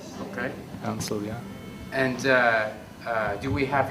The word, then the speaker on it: Ansel: was the last name oh I spell this is spelled a-n-s-e-i-l Ansel okay Ansel yeah and do we have your permission to